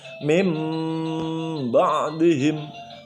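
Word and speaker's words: من بعدهم: Cara membacanya langsung masuk ke mim. Mim ba'dihim, mim ba'dihim.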